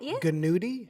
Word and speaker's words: gnudi: I'm not pronouncing the G on any of these. You see? Nudie and so is there a G on nudie? Yeah. Gnudi?